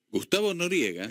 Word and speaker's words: Gustavo Noriega: Gustavo Noriega. No hay ninguna complicación. No. Perfecto, gracias, Carlos. No hay ninguna pronunciación extraña. Claro, exacto. Claro. No es un apellido italiano.